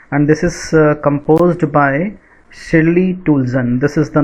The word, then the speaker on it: Shirley Toulson: your book Hornbill, and this is composed by Shirley Toulson. This is the name of the poet, and the correct pronunciation is, I repeat, Shirley Toulson.